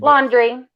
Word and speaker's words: Laundrie: Laundrie. Like dirty laundry.